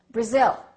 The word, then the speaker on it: Brazil: same thing with this what do we say Brazil I am from Brazil no this is no longer a it's uh Brazil Brazil so you see you